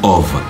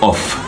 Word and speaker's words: of: plutôt of off donc le F se prononce ici comme un V bref c'est pas ça